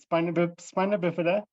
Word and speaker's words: spina bifida: Is it spina bifida? Could you pronounce that for me? I'm afraid that I... That's okay, Alex. So I always pronounce it spina bifida, and upper motor neuron dysfunction.